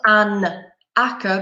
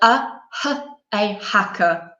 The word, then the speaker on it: hacker: we pronounced rehearse okay it's a consonant sound hacker so it's not an akka but a hacker okay so be careful